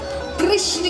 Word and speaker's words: कृष्ण: सही ले उसका, तो कृष्ण कहने में जीभ घूमती है। कहो घूमी, जिसका नहीं उसका उच्चारण सही नहीं, तो इसीलिए कृष्ण है ना।